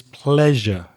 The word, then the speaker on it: pleasure: the French the pleasure similar to words like Leisure or television sound Craig you said